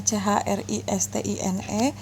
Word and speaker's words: Christine: Begitu juga dengan Christine, walaupun tulisannya CHRISTINE, namun karena bacanya Christine, kalian tidak mencari huruf CH-nya, tapi setelah dibaca Christine, maka nanti menggunakan K.